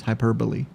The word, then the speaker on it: hyperbole: I know how to pronounce this. Hyperbole.